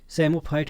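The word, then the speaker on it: psammophyte: सेमोफाइट कहते हैं। देखिए पी से स्टार्ट होता है, पी साइलेंट है इसमें।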